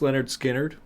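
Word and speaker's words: Lynyrd Skynyrd: Uh, Pronounce Leonard Skinnard by Leonard Skard.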